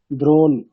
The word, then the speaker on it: দ্রোণ: মূর্ধন্যের নিচে একটা হসন্ত থাকবে, তবে আমরা প্রোনাউন্সিয়েশন করতে পারবো যে দ্রোণ। আর যদি হসন্ত না থাকে তাহলে মানে প্রোনাউন্সিয়েশনটা কেমন হবে? তাহলে অকার আছে, তাই না? ধরে নিতে হবে অকার আছে, তাহলে দ্রোণা এরকম হবে, তাই না?